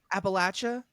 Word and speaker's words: Appalachia: Appalachia. Sorry. No, you said it right. Oh, I You said it did. It right. was Appalachia.